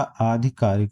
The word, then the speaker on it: आधिकारिक: अधिकारिक आधिकारिक अधिकारक अधिकारिक सही उच्चारण इसका आधिकारिक हो गया।